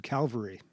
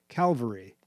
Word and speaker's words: Calvary: Notice I said Calvary and used it correctly.